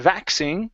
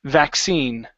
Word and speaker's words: vaccine: is the word uh vaccine okay uh so here the stress is on the end of the word instead of vaccine it's vaccine vaccine okay good so a